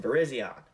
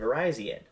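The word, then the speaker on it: Virizion: reviewed the Victini movies I pronounced their names as Cobalion Tron and Verizion when reality their names are calian Terian and verian this seems to always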